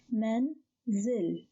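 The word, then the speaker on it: منزل: the second syllable is so the word is pronounced as men zil menzel menzel let's have a third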